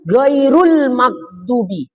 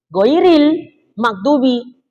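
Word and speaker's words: غَيْرِ الْمَغْضُوبِ: Wa illam takun minha, maka jika basmalah tidak termasuk daripada ayat Fatihah, fasabi'atu ghairul magdubi. Nah, kalau aslinya ghairil magdubi. Ini Ustaz nih bacanya ghairu. Nah, semuanya siratu, ghairu. Nah, tak betul. Nah, makanya ngaji.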